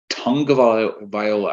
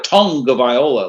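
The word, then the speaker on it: Tagovailoa: a tongue of Viola I never understood why it's tongue Viola when it's spelled tag of Viola yeah make sure they say tongue though it's like they're saying to a tongue of Viola like are we sure it's tongue I don't know I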